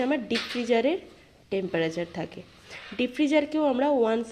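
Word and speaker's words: deep freezer: আচ্ছা, এর সাথে সাথে ডিপ ফ্রিজারের কথাও যেহেতু চলে আসে, কথাটা একবার বলে নিই। ডিপ ফ্রিজার জিনিসটা কি? আচ্ছা, এইটা আমরা অনেকে ডিপ ফ্রিজ করে উচ্চারণ করি, কথাটা কিন্তু ডিপ ফ্রিজার, নট ডিপ fridge.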